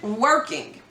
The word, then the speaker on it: Werking: the house he's 42 his name is david working like w-e-r-k-i-n-g rhyming with twerking he's from grand haven